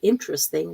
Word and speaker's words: interesting: didn't realize that was the word interesting where the t gets dropped just like some of